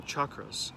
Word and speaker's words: chakra: And now it starts to talk about the chakras, which I'm very much into, chakra tree yoga, right?